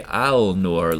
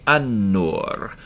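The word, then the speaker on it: النور: L in aliam we're not going to say Alor like it's written we're going to say Anor like that here's noon in the middle of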